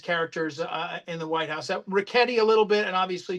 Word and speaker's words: Ricchetti: Okay, I will politely and gently tell you his name is pronounced Ricchetti. Oh, okay. Soft.